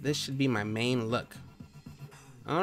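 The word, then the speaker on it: lolk: in the last vid it is said like llo K loo K okay I got it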